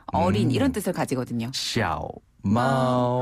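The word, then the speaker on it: 猫: 정말 이렇게 발음해요? 정말 그렇게 발음해요. 마오.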